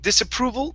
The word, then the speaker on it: disapproval: Okay, so with disapproval, make sure to pronounce that L at the end.